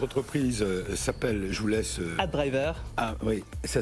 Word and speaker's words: AdDriver: AdDriver. Ah oui, ça s'écrit ADRIVER. ADRIVER. Je le dis parce que c'est pour la radio. Oui, okay. Parfait. AdDriver.